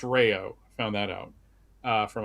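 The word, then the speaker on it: Rao's: It's pronounced Rayo.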